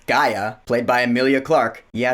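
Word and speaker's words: G'iah: we learned that Taylor's daughter whose name is pronounced Gaia played by Emilia Clarke yeah she took the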